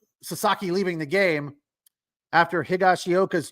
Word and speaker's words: Higashioka: Higashioka. They just call him Higgy, don't they? Or something like that. But yeah, he had a good game for the Rangers. Prior to Sasaki leaving the game, after Higashioka's 2 hits, there was nothing else happening for